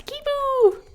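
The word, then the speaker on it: Kiibo: kibo sui and heiko it's weird when they pronounce his name right it's like no it's kibo she was besties with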